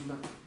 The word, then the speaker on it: Ханда: значит Ханда Хан но на бурятский манер и на монгольский манер произносится как Ханда а буквально Как перевести